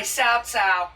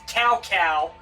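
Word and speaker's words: Cao Cao: So, the kingdom of Wei led by Sao or as you better know him as CowCow because freaking early dynasty warriors pronunciations.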